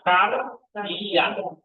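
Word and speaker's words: καρδίᾳ: Nah, itu namanya diota subsrip tidak diucapkan tapi kita tahu itu tanda diota sate pronunciation-nya pengucapannya enggak ada. Jadi ini dibaca apa? I kan apa alfa, pro delta alfa i kan. Nah, jadi dibaca kardia.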